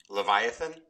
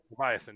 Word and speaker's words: Leviathan: the name of the card Leviathan is that I saying that right Leviathan Leviathan yeah correct two night card make